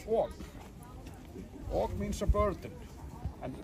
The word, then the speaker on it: Ok: Now Og, we write in Icelandic, O and K. Og. In English you would pronounce it okay.